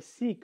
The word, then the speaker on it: Sikh: he tells me that he's a Sikh or is he kind of pronounced it sounded like sick and I was like